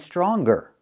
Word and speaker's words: stronger: Hangers with no hard g sound, and stronger with the hard g sound.